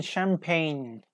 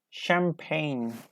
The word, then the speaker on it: champagne: yes age is correct for sixteen number seventeen champagne champagne champagne yeah there are more than one later and it's pronounced differently Julio mum AC AG's okay yes